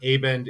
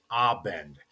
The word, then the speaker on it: Abend: It's not aend it is abend.